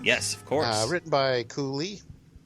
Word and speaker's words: Kui Lee: Written by Cooley. I think that's how you say it, Cooley. Kui Lee? K-U-I and then Lee. Kui Lee.